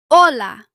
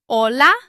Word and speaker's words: hola: Is the H pronounced in the word hola? The answer is no. The H is silent.